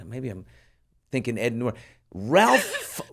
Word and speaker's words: Ralph: I'm thinking Ed Nort Ralph Rafe the guy pronounces it Rafe but it's Ralph.